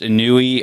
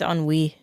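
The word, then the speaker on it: ennui: do you have uh the way Ian pronounced anui oh no it's on Wei the on Wei on Wei is literally just the French translation of the word boredom oh okay positively on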